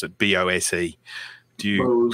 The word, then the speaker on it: Bose: how you pronounce it, BOSE. Do you pronounce? Bose. Yeah, we say Bose as well. I've heard people say Bosey, so I just thought I would clarify that. But we definitely it's like Bose.